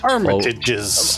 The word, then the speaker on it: Armitage: And Rose has invited him to meet her family, the Armmitage. Is that how you pronounce it? That's Armitages.